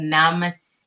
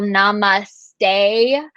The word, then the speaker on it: namaste: just talked about so there's the whole namaste which is the incorrect pronunciation of it um and then there's namaste okay so that is going to be the correct pronunciation of it and um as